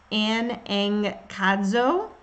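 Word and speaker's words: ἀναγκάζω: It also, in Greek, it's pronounced anankazo, and I will put the link up there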